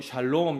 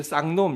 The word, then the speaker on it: 샬롬: 네, 좀 전에 쌍놈 이렇게 얘기한 건 아니죠? 네. 샬롬이라 그랬어요? 네. 이 발음을 잘해야 돼요. 잘못하면 욕이 되기 때문에.